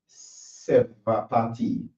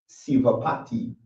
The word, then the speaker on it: Sevapati: Sevapati. Sevapati. I don't know if I said this right. What? Yeah, I pronounce Sivapati.